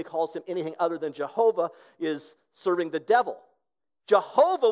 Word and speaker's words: Jehovah: of the why and the Y in Latin was pronounced with a J sound so they started pronouncing it Jehovah that's the word a